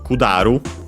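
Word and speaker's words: 下る: Uh it comes from kudaru uh and uses the uh kzi for uh low bottom and yeah kudaru means uh to descend. Uh ah by the way unacented this one uh I wasn't sure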